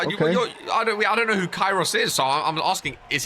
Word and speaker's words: Kairos: No, Kairos. I don't know. Spell it.